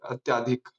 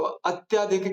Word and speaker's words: अत्यधिक: है नहीं गलत है हम सब ऐसे ही बोलते ना अत्याधिक ये गलत है जो मैंने लिखा स्पेलिंग सही क्या होती है अत्यधिक अत्य य पे रुक जाओ आ की मात्रा मत लगाओ ठीक है अत्यधिक बहुत